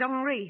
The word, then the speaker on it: Henri: oh yes this is Henry thear he pronounces it hry never mind the pronunciation